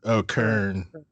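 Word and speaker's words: Kurn: Is it Nern or Garn? No. Kern.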